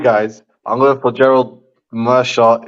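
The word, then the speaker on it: Meerschaert: I'm going for Gerald Mearshart, if that's how you say the name properly. And Yep. yeah, now I've heard his pronunciation of the week. Actually, that's pretty much how you say it.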